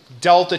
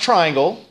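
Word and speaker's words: Δ: over this time of delta T that triangle is not pronounced triangle it's pronounced Delta it's a capital D in Greek and that Delta means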